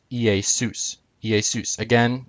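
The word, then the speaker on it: Ἰησοῦς: would have been pronounced EA sous EA suits again the accent is on sous Zeus would have been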